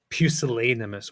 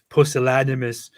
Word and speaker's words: pusillanimous: also picked up that word uh pusillanimous which he started pronouncing postulatimus ultracrepidarian and he doesn't